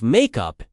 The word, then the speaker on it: make up: The stress is on up in both meanings.